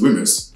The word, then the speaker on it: WHMIS: for hazardous chemicals the letters whmis can be pronounced whmis and these letters stand for the workplace hazardous